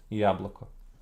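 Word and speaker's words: яблоко: In modern Church Slavonic and in Old Church Slavonic, these were not reduced. And modern Church Slavonic also doesn't reduce them. So that's the pronunciation that I'll be using. Yabloko.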